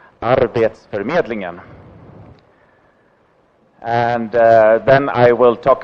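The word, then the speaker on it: Arbetsförmedlingen: the agency that I work for which is pronounced our dates for meddling ham and then I will talk a little bit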